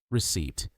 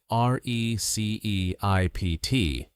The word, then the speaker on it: receipt: Now word number 12 receipt. When learners see r e c e i p t. They often pronounce the p but the p is completely silent.